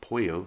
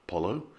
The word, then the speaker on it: pollo: one in is because the double l sound in spanish is pronounced like a y so it's not los vales it's los vales the word for chicken is puyo not pollo and mayoka is majorca